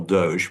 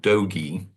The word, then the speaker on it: Doge: is doing with Doge, which you may call Doge, but I find that a sort of French pronunciation. I prefer the Southwestern Doge, as in get along, little doggies.